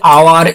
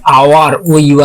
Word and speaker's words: hour: আরো আছে আওয়ার, HOUR, এর উচ্চারণ দেখো, এইচটাকে আমরা সাইলেন্ট রাখছি, কি বলছি আওয়ার, আওয়ার।